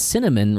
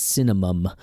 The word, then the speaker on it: cinnamon: So asterisk, Ray pronounces asterix. Asking, Ray pronounces as axing. And cinnamon, Ray pronounces as cinnamum.